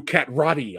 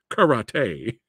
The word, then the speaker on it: karate: gonna I'm gonna do cat Roddy on you I'm gonna do cat Roddy and he goes huh your mistake Catwoman Rowdy or correctly pronounced karate only works as a